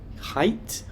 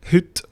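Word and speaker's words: hytte: How do you spell it? H Y T E. Hoot. Hoot. So it's like our word for hoot.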